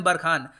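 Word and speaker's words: Barkhane: जी हाँ, इसको प्रोनाउंस करने का तरीका है ऑपरेशन बरखान।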